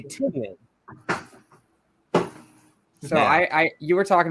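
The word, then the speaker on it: Tynion: Tinian was it? I believe it's Tynan. I believe it's Tynan, and I think Wes is the one that educated me on that. I can be kind of bad at pronunciations in general, but I'm almost positive it's Tynan.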